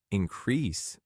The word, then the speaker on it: increase: the word increase is increase, because I have heard so many language learners say that like increased. It is not correct. The right pronunciation and the correct pronunciation is increase.